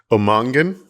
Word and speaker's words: O'Mongain: And then how do you pronounce it? Omangan.